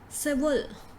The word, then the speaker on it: civil: do we pronounce this civil so you say sieve then you give it a hug sound in between huh civil circle so